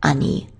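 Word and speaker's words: 兄: Whereas our own older brother, he gets just a kanji and he's pronounced ani.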